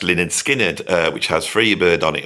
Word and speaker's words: Lynyrd Skynyrd: I was a fan of Lynyrd Skynyrd, my favourite album being the first album, pronounced Lynyrd Skynyrd, which has Freebird on it.